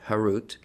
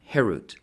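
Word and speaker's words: חֵרוּת: Do not pronounce it carved, harut, but rather freedom, herut, to show that they are freed from the angel of death.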